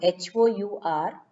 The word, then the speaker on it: hour: if you take h h sometimes it gives a consonant sound and sometimes it depends upon the next vowel sound for example horse horse we pronounce the consonant sounds we can say a horse but our h-o-u-r the next o is giving the sound so then it is an hour so like that some